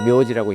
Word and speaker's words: 名字: 묘지라는 건 이제 이름 명자에다가 이제 글자 자자를 써가지고 일본어로 이제 묘지라고 읽는데요.